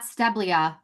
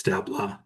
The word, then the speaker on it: Steblea: So, Jeff, his last name is not Steblia. For anyone out there that might pronounce it that way, it's Stea. So, we just had a fun conversation about how my name is mispronounced, misspelled. His name is often mispronounced. So, we're going to clear the air. It's Stea, right? It's Steppla. Yeah. Very Romanian.